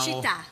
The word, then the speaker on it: città: Now, città.